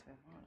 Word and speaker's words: Vivant: Vivant is actually a French word, which is why I guess it's a bit tricky to say. The E is silent.